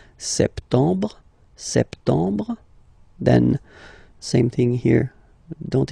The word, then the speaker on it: septembre: So septembre, septembre. Remember this EM en septembre. Brr. You don't insist on the final E. Septembre, septembre.